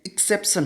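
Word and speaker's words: exception: एक ये यहाँ पे और गलती हो रखी है, एक्सेप्शन यहाँ पे ये इसका जो प्रोनाउंसिएशन है ये करेक्ट नहीं है, एक्सेप्शन होगा।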